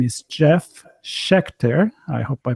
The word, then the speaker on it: Jeff Sheckter: You pronounced my name right. It's Jeff Sheckter.